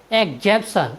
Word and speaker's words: exemption: और नेक्स्ट हमारा वर्ड है EXEMPTION, एग्जेम्पशन, एग्जेम्पशन मीन्स होता है छूट। साथियों, यहाँ पर EX के बाद A, I और E आया है, इसलिए हमने EX का उच्चारण एग्ज किया है।